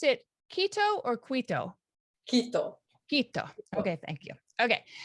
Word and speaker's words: Quito: Do you pronounce it Quito or Quito? Quito.